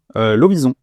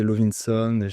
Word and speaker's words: Lovison: Lovison. Lovison, tu vois, j'étais Lovinson. Ouais, à l'américaine, mais finalement, non.